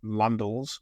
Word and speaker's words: Landels: And Instagram is just my name, and my name is without an H, so my name Landels, although rhyming with candles, is spelled Landels, so it's an ELS rather than LES.